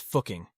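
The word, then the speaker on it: Fucking: is located in the Upper Austria region it's pronounced fuking but it still sounds weird weird doesn't it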